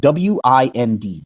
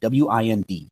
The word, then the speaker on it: wind: that word wi ND well if I say I'm going to wind my watch or you know wind the clock or wind up this ball of yarn it's pronounced one way but if I say the wind is blowing it's pronounced a different way right same letters different